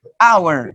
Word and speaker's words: hour: and exactly an hour but teacher there's a consonant on the letter h but the letter h is not pronounced so you say hour oh yeah an hour